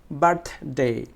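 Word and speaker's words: birthday: তাহলে কীভাবে উচ্চারণ করি দেখো, বার্থডে, বার্থডে, বার্থডে।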